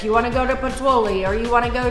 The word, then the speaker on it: Pozzuoli: You have to say it like this, Pozzuoli.